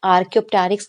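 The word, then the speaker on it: Archaeopteryx: तो बहुत सारे बच्चों को ये वाला नेम प्रोनाउंस नहीं करना आता. भी क्या करते, क्लास में भी बार बार पूछते, मैम इसको क्या बोलते हैं. तो यस, आपको ध्यान से पढ़ना होगा. इसको क्या बोलते हैं, आर्कियोप्टेरिक्स लिथोग्राफिका बोलते हैं.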